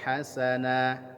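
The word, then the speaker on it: حسنا: ajran hasana. Hasana dibaca hasana, itu adalah mad iwad. Ya, mad iwad, ya, hasana 2 harokat.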